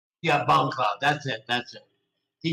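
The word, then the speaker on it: Bongcloud: not all of us I'm gonna play the cloud Bongo CL bong Cloud say it right yeah bong Cloud that's it that's it did you see the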